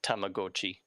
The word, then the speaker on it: Tamagotchi: Yeah, if you were to like pronounce it the way it's written in Japanese, it's Tamagotchi.